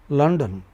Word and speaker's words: London: But another city London, you know is stressed on the initial syllable.